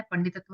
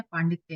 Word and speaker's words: पांडित्य: पंडित की भाववाचक संज्ञा ये नहीं है, पंडितत्व नहीं है, पांडिल्य नहीं है, पांडित्य है।